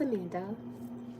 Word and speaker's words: Amanda: I call my fans my Panda Bears because my name is Amanda. It rhymes with panda, and I've always liked panda bears.